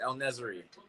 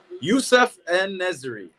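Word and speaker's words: Youssef En-Nesyri: I thought he was injured, El Nasri. I'm saying his name wrong. I got it. Yeah, El Nasiri, yeah. Youssef En Nesri.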